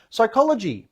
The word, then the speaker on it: psychology: the t is silent psychology the p is silent vax injury the media